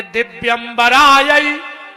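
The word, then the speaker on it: दिव्याम्बरायै: जबकि इसका शुद्ध उच्चारण ये है कि दिव्यंबरायई चो दिगंबरायो, दिव्यंबरायई।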